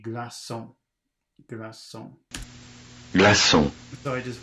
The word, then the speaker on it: glaçon: Because Okay, if the letter C without a cedille is followed by an E or an I, it's pronounced like an S. Followed by an E or an I. And this next word, it's got the little hook on it, so it has to be glaçon.